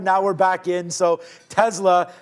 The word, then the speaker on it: Tesla: getting everything back on Tesla. The professor's got me saying that, but it is the right way to pronounce it, apparently, with a little bit of a Z action in there.